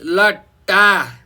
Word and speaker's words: लट्टा: अब बेग्ला बेग्लै यसको उच्चारण गर्नुहोस्। लट्टा, फेरि भन्नुहोस् त लट्टा हो। त्यस्तै गरिकन भन्नुहोस् लट्ठा, फेरि भन्नुहोस् लट्ठा हो।